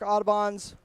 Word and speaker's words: Audubon: Here on Lake Park's Lake Park Audubon's or Audubon. Apologies, apparently I've been mispronouncing their town name in my 32 years